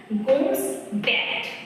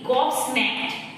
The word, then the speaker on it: gobsmacked: গোমস ব্যাট, গোমস ম্যাট, GOBSMACKED, গবস ম্যাট, sorry আমার first উচ্চারণ ভুল ছিল, গবস ম্যাট, অবাক।